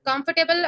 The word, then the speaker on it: comfortable: Comfortable, how we'll say? Capital letter. It means इन पे जो है हमें दबाव देना है, जो हम ये यूज कर रहे हैं KUMF, comfortable, comfort, comfort पे हमें थोड़ा